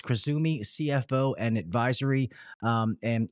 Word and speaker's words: Cruzumi: uh krisumi uh Kumi so just so you know it is spelled c u zuu Mi uh so it's kisumi CFO and advisory um